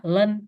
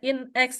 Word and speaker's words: ln: logaritma natural X jadi jangan sampai dibaca in X ya itu kebanyakan ee terjebaknya di situ ini dibacanya in X penulisannya juga pas hasilnya in X in X itu apa gitu padahal ini l ya l kecil n x jadi logaritma natural X disingkat dengan Len Len x + c yang